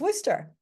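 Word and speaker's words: Worcester: in your Bloody Mary if you had never seen the spelling of it you might spell it w o s s r right but it's Worster when we borrow words a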